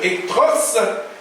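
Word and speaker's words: ἐχθρός: Le mot utilisé, le mot grec qui se prononce ektros, c'est-à-dire un homme qui est haïssable, quelqu'un qui est odieux.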